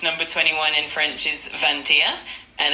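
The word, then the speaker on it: vingt et un: Of course, number 21 in French is Vantia and it's spelled V I N G T E T T U N.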